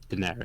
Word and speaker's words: Daenerys: Daenerys, yeah.